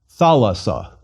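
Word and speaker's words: θάλασσα: Thalassa.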